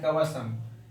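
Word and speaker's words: cumbersome: Third word है कवसम, CUVERSOME। आर को slightly silent करके प्रोनाउंस करना है आर को, क्योंकि आर के पहले वोवेल है।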